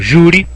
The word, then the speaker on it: júri: E por último, júri. Júri, olha, a sílaba forte aqui, né? Júri. O Word até marcou já, né? Sacanagem. Marcou em linha vermelha aí. Mas júri é uma palavra paroxítona terminada em I.